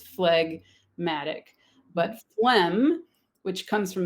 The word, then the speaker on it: phlegmatic: thing that gives us phlegmatic where we do say g right flag if it's separated in syllables it's flag matic but phlegm which comes